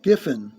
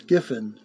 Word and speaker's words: Giffen: And you had Keith Griffin. Gri yeah not well Gifin, not an R there, it's Gifin.